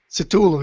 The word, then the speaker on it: Cthulhu: Satulu? Yes. Yeah. So, so my pronunciation obviously is the lay person's pronunciation.